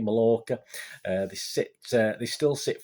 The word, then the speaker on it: Mallorca: york i don't know i pronounce it m a double l o rca mallorca they sit they still